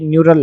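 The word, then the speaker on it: neural: pronounce कर रहा था ये न्यूरल है न्यूरल न्यूट्रॉन नहीं ये सॉरी न्यूट्रल नहीं न्यूरल ओके इसके आगे चलते हैं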